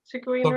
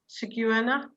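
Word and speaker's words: cigüeña: Ciguena is a swan. Ciguena. What do you say? The only la one there. Ciguena. La Ciguena. Ciguena. Ciguena. Is it a swan? So we've got a nya in there.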